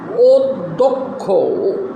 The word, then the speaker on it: অধ্যক্ষ: যেমন অধ্যক্ষ, এখানে দটা হলো মধ্যে, তার সাথে জফলা আছে, কিন্তু এখানে অধ্যক্ষ, অধ্যক্ষ উচ্চারণটা হচ্ছে অধ্যক্ষ, অধ্যক্ষ, এই দটা দুইবার হয়েছে।